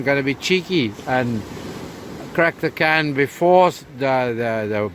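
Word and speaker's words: craic: spelling in here somewhere you pronounce it as in crack as in the crack in the windscreen that kind of thing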